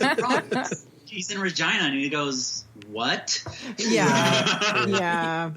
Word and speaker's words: Regina: Regina.